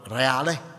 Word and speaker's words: Reale: thee amen I my name is or reali but in Ireland in in England they pronounce it how they may be Spanish